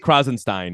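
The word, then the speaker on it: Krassenstein: And these guys, and, the to a lesser extent, like the Krasenstein brothers, am I pronouncing their names correctly? Krasenstein.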